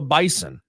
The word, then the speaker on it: Bison: They don't like being called the Bison. They want you to call them the Bison. Say it wrong and with a Z instead of an S.